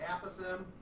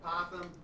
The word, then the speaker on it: apothem: And this next word, I've heard it spoken different ways from different experts, and so whether you pronounce it apothem or apothem, it doesn't matter to me.